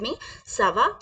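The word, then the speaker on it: merci: बिया सावा बिया सावा बिया प्लीज रिपीट विद मी सवा बिया सवा बिया या फिर हमें बोलना है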